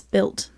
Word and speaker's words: Built: We're going to do the belt puff. Why did she pronounce that? Belt. It's built. Built. What would it be in an American accent? Built. Yeah, you wouldn't say belt.